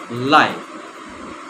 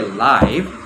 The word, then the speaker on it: live: Live. Here, see. We will not say live, but what I am referring to is live.